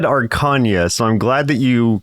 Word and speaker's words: Arkanya: So the girl from Arkanya, and last week, I think I was pronouncing it Arkanya, and I really thought that that's how it was going to be, but I watched a dev vlog about the game, and they kept pronouncing it Arkanya. Oh. And I was like, I guess that works, because arcane, that makes sense.